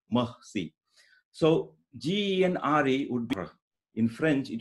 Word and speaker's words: genre: G-E-N-R-E is a French word. And in French, it would be pronounced, the R sound in French is very tricky. It's very different from English sound. It is articulated somewhere inside your mouth. It is similar to the ha sound.